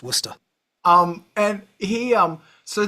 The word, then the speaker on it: Worcester: Definitely says Warsester on the sign but it's absolutely pronounced Worcester.